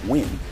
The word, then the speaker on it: Nguyen: could be that with the name pronounced twin and what you have